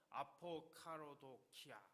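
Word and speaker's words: ἀποκαραδοκία: 아포카로도키아 이렇게 발음을 합니다.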